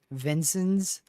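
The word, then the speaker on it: Vincennes: Vincent's, like that. Vincent's. That's one of the weirder spellings I've seen, honestly. I would have never pronounced it like Vincent's.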